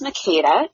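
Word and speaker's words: Makeda: Yeah, so it is Makita, and Makita, or Kata for short.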